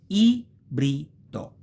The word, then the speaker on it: ibrido: You have I, which is a syllable by itself, brido, quindi ibrido, okay?